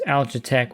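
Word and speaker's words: Algatec: It's spelled A L G A T E C. So, it's alitech without the e.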